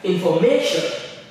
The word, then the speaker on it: information: Like information, information, information. The may is where we stress.